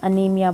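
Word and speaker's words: anemia: एनीमिया। Spelling है लिखे हुए इंग्लिश में और हिंदी में भी आपको लिख कर दिखा रखा है, अनीमिया बोलते हैं इसको।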